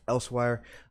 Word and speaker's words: Elsweyr: name right there Els w ey R is pronounced elsewhere and this is part of the Khajiit homeland